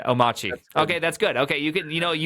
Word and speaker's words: Omarchy: people may not be familiar what or what Omarque is or "Omarque", sorry.